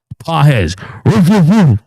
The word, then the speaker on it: Pages: You keep mispronouncing Andy P's name. It's Andy Big Dog. Pah.